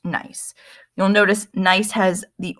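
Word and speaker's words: gneiss: could turn into nice this word is pronounced nice you'll notice nice has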